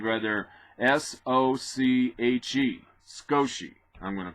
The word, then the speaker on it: Sochi: That's pronounced, or spelled rather, S-O-C-H-E. Sochi, I'm going to call it.